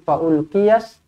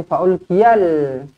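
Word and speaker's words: فألقي السحرة: Sama juga macam tadi, fa'ulqiyas. Okey, jangan baca fa'ulqiyal. Jangan. Sebab apa? Lamnya bukan lam mati. Ini lam kosong. Selepasnya ada sabdu. Masukkan terus kepada sabdu. Fa'ulqiyas saharatu.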